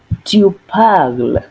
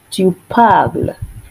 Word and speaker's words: parles: Tu parles. Tu parles. Remember, in French, we do not pronounce the last consonant in a word.